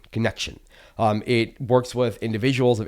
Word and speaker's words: Conxion: The organization is called Connection to Community, and it's spelled Conxion, Connection.